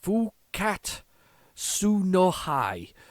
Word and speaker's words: Fukkatsu no Hi: invaders i've got to be very careful i'll pronounce this next bit full cat su no hi and basically it's it's it's the it's the